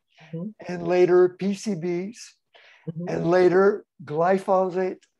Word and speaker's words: glyphosate: And he said in the late 70s, he started studying dioxin and later PCBs and later glyphosate, how do you pronounce it?